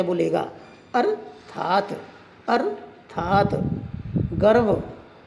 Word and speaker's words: गर्व: गर्व। गर्व में वे के ऊपर लगा हुआ है, गे रे वे, गर्व।